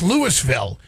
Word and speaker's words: Louisville: appeared to be a Louisville rap victims picture Savannah well you know what's so funny about that is that's Lewisville is how we pronounce it here and lewisville's very close